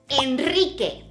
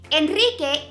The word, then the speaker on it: Enrique: another example to help you remember both sounds Enrique Enrique is a very common name in most of Latin America and Spain and check us out we have a special nickname for people whose name is Enrique and we call them Pete cake DK see